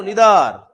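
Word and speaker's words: neither: Each, every, आइदर, या उसे इधर पढ़ते हैं जल्दी, आइदर नहीं इधर, और नाइदर को निदर।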